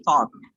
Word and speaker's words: thought: Hey, bukan gitu cara bacanya. Mungkin dia suka, Sir. Siapa sih yang nggak suka? Semua suka. Tapi jangan di kelas ini. Songkolo. Bacanya itu adalah, coba bilang ot. OT, ot, bilang. Ot. Ot. Lidahnya diginiin nanti di depannya.